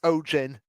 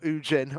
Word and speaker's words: Ojin: No, it's pronounced Ojin, not Ujin.